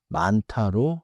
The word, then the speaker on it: 많다: 많다는 니은 히이 겹받침 뒤에 디귿이 히읗의 영향으로 티잉처럼 나서 많다로 발음돼요.